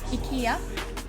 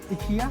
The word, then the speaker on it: IKEA: Not IKEA. No, I think it's in English. IKEA. In Sweden we say IKEA. IKEA. IKEA.